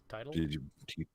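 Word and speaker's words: Teitel: teedle amy t alter now i hope i'm pronouncing that right title well that's not tittle and we have to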